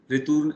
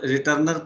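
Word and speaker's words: retourner: जहाँ मेरा कर्सर है, रिटूर्न, इसको फ्रेंच में इंग्लिश में तो रिटर्नर लोग बोलेंगे, इट इज नॉट रिटर्नर, French में इसको प्रोनाउंस करें रिटूर्ने, रिटूर्ने आ फ्रॉड, मतलब रिटर्न टू फ्रॉड।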